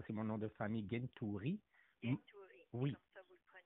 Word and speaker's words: Gentouri: Ça, c'est mon nom de famille, Gentouri. Gentouri, oui. Comme ça vous le prononcez. Exact, exact. Il y en a qui vont le prononcer comme Gwentouri.